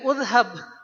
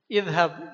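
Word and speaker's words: اذهب: Ya, tapi yang ini jangan dibaca uzhab. ini dibacanya izhab.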